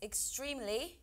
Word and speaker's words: extremely: It's extremely. It's ex. There's an R in there. But we will pronounce it.